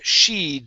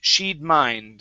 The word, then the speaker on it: she'd: gut good um here we have sheed instead of she would mind okay don't break up the contraction okay it would be shead she'd very good and your last